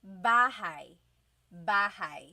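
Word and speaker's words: bahay: with me bah bah you might notice that the spelling is a y at the end so it looks like bah but it's pronounced bah that a y combination is bah bah now you might also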